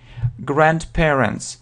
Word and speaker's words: grandparents: Grandparents, соответственно, бабушка с дедушкой. I have, у меня есть бабушка с дедушкой. I have grandparents. Grandparents, I have grandparents. Можно произносить D, но часто не произносится.